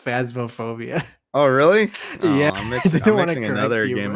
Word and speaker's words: Phasmophobia: pronounce uh phasmophobia uh is it phobia or because you've been saying phantasmophobia it's just phasmophobia oh really yeah another